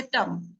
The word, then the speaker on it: टं: आप अभी बैठिए और मतलब एक शब्द है टम। ट टमाटर वाला ट उसके ऊपर बिंदी। टंग बोलना शुरू कर दें। न बोलते हैं पर वो बोलने में उच्चारण म जैसा लगता है।